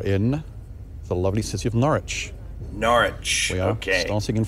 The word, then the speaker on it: Norwich: City of Norwich gosh it's so hard not to want pronounce the W but I feel I don't I don't need to I I kind of have a feeling norch it's the W is not I have to pretend